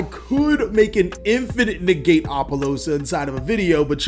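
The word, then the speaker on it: Apollousa: card we are going to talk about is apollosa goddess of the bow see i finally said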